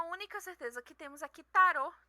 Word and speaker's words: tarot: certeza que temos aqui tarot é uma palavra francesa no qual o último T é mudo então por isso que